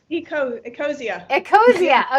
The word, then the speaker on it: Ecosia: i hadn't heard of the exo ex-socia the search engine okay yes ecosia okay there you go that's how i pronounce it that's right now that